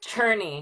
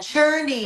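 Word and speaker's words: Czerny: Churnney. He's Polish. I saw some people here from Poland. Churnney. So yeah e r n y.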